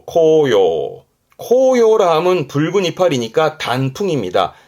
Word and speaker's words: 紅葉: 발음은 코요. 코요.